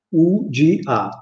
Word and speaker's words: uga: La U, arriviamo alla U, la U in milanese normalmente si dice U, si pronuncia U alla tedesca, alla francese. Allora, per esempio, se io devo scrivere uva, in milanese scrivo UGA, uga, e quella U lì la pronuncio U.